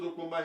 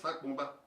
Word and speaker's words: Sopomba: See the way they wrote Sopomba here? Sopomba, that is the right way to say it. It's not Sakpomba. People say Sakpomba Road, Sakpomba Road. There's nothing like Sakpomba Road. It's Sopomba Road.